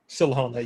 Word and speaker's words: Silhana: And then Josh, what is is it Silhana? Silhana, yes. It's Okay. Elvish, so no one can pronounce it without half a pound of phlegm in their throat.